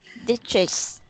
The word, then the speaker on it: districts: as districts, Yeah, districts. district. Districts. Uh, um, X. district, district, Yeah, districts. district. Okay, we have. Do we pronounce city? Yeah, the CTS put together sounds like an X sound, like an X sound.